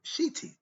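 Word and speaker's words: shedy: ancient Egyptian religion surrounds the ancient Egyptian word shiti s h e TI or s h e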